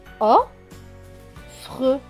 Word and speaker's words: offre: Deux F qui se prononcent F. F et R. Cela donne fe. R. Fre. Avec le E, cela fait fre. Donc, le mot se lit offre.